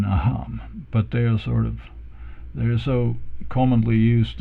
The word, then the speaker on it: aham: So because otherwise, if you were to follow the real rules of, or so-called real rules, you would put the stress on the first A here in aham, but they're so commonly used, and so that they sort of have morphed into a special pronunciation.